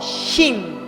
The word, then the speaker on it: shin: La diferencia es que la letra shin hebrea, para que se pronuncie como shin, lleva un pequeño punto en la parte superior, pero del lado derecho.